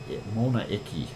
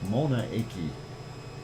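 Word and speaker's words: Mauna Iki: it was a called Mona iki uh like m a u uh n a n n i k i I guess that's how you would pronounce it at least that's the way I see it anyway uh this is going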